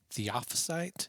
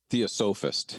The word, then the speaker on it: Theosophist: I always say this wrong. Adam can correct me. Charles Williams was the Theophysite. Is that how you say it, Adam? Theosophist. Theosophist. Thank you.